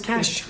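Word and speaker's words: cache: we spell it it's it's c-a-c-h-e yes yes the cash it's for your cash uh and it's also a cash yep so why don't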